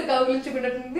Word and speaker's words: కౌగలించుకున్నట్లు ఉంది: So he was like, kaugulinchu, one word, kunnatuttundi is another word, so kaugulinchu kunnatundi will come together.